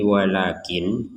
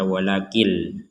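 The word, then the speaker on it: ولكن: kalau kita berhenti di walakin Jangan dibaca walakil Kenapa karena nunnya tidak menggabungkan dengan lam Kalau nunnya digabungkan menjadi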